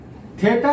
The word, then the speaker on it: theta: थेटा या थीटा, बहुत लोग थेटा यूज करते हैं, कोई थीटा प्रोनाउंस करते हैं, तो उससे कोई दिक्कत नहीं है।